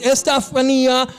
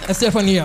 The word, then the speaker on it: Estefania: introduce to you guys is her name is estafan what's up yo I think I said your name wrong welcome you right Stephanie Oran Stephania okay um so let's talk about a little